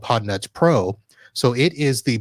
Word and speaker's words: Podnutz: All right, so Podnuts Pro is spelled PODNUTZ. So almost like it sounds, except with a Z.